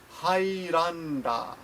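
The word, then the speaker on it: ハイランダー: to point out that in english you might say highlander but in Japanese you would say hi Rhonda hi done remember the pronunciation will change slightly um squashy Johnson says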